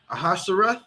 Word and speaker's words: Ahasuerus: Let me pronounce his name. Ahasuerus.